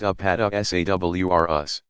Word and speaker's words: Apatosaurus: plant eaters include the Apatosaurus pronounced a pata s.a.w are us used to be called